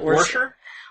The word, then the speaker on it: Worcester: Worcester? Worcester? Worcester. But they pronounce it weird.